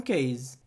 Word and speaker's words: case: capinha de celular phone case e lembra da pronúncia Case Case a gente não pronuncia esse e no final é quase como se ele fosse mudo Case Week Essa é